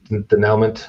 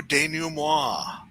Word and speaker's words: denouement: Powers everyone's there, and he comes out to the bar to do the denouement debriefing.